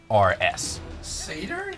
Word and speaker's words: satyr: Not stairs, like walking up, like STYRS. Satyrs? Satyrs. I've been saying it wrong my whole life.